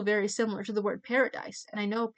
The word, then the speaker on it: paradis: And I thought, wait, parody is also very similar to the word paradise. And I know paradise in French is paradis. And that rhymes with ami.